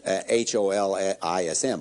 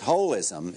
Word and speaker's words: holism: And that's, we pronounce it H-O-L-I-S-M, holism, but that's just because it's too hard to say holism.